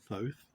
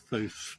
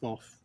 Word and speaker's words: Thoth: Horus, often associated with Thoth. I think I'm going to pronounce Thoth's name differently each time. Thoth, Thoth, Tot, Toth. Just don't call him Thot.